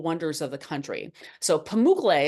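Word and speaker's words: Pamukkale: So, Pamuk is how you pronounce that. It means cotton castle in the in the Turkish language.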